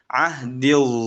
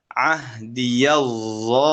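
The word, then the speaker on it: عهدي: Imam Hafiz bacanya bagaimana pada kata ahdil zalimin? Tanpa harokat fathah kan? Tanpa dibaca dengan fathah. Dibaca ahdil zalimin. Itu Hafs. Namun pada Syu'bah ahdiyal zalimin.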